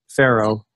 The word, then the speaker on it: Farrow: But F and arrow, because that's the way it's spelt, Pharaoh, F and arrow.